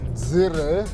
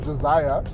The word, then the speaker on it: Dzire: We are out in Joberg on the launch of the all new uh Suzuki Zer. Well, that's how people pronounce it, but it's actually pronounced desire.